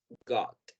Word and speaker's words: got: Y por último vamos a irnos con la pronunciación de la palabra got. Aquí esta vocal, la vocal O, suena como O. No exactamente como O, sino como O.